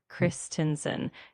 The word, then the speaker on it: Christensen: The name Clayton Christensen is pronounced with a clear Clayton and then Christensen. You got most of it right, so just keep that slight emphasis on each syllable.